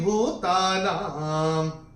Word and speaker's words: भूतानां: पहले चरण में ना के ऊपर जो अनुस्वार आ रहा है वो चरण की समाप्ति पे आ रहा है, तो इसका उच्चारण केवल और केवल म ही होगा। भवाप्ययौ हि भूतानां, ये ऐसे करके आएगा।